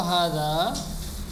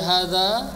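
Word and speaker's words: هذا: Jadi hadza, hadani, haulai, hadhihi, hatani, haulai. Jadi dalam pengucapan hadza panjang dia, bukan hadza tapi hadza. Itu ada alif mad sebenarnya, cuma dihapus.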